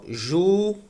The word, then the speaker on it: júri: paroxítona é porque porque nós temos júri e júri a sílaba tônica é a penúltima é paroxítona ela termine